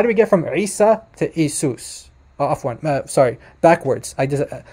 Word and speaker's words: Isa: Listen carefully to the pronunciation. It would have to be, now this would be Isa. Isa. And it's not Isa. Listen to that guttural ayn at the beginning. That's very important, and that's a huge